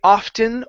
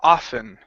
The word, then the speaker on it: often: good um right here now you can say often or often personally I say often okay I've heard I've heard people not include the T and I've had them include the T okay um uh so just just be aware it's the same word okay saying it either way right okay awesome okay